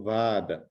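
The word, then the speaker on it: वाद: Para quem não está acostumado com a pronúncia do sânscrito, a gente escreve com V de vaca, A longo, né? O A tem um traço em cima, então seria como Vada, né?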